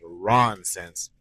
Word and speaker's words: Ronsense: It's called Ronsense. It rhymes with nonsense, but begins with the R because hey, my name is Ron.